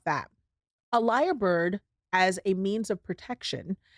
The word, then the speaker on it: lyrebird: to talk about the liar bird I don't know if you've heard of a liar bird before or what it is but a liar bird it's spelled l y re e bird is an Australian bird